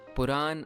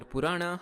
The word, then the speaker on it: Purana: Puran or Purana, however you want to pronounce it, literally means old or ancient stories.